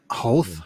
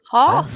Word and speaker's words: Hoth: Hoth?